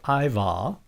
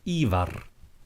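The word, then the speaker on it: Ívar: The second one is that you have the rolling R. So it's not Ragnar, it's Ragnar. And it's not Ivar, but Ivar when you're watching Vikings.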